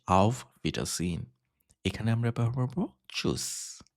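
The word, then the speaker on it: Tschüss: এখানে আমরা ব্যবহার করব চুস ওকে বানানটা একটু খেয়াল করবেন টি এস সি এইচ ইউমট এস এস ওকে চুস ঠিক আছে আর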